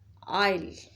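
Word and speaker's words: aisle: As you can see there is S as well, but S is silent in this word. इस word में जो S है वो silent है, उसको प्रोनाउंस नहीं करना, आपने जस्ट प्रोनाउंस करना है आइल, आइल।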